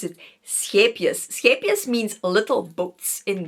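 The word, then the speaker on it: Scheepjes: This is how you pronounce it. Scapius.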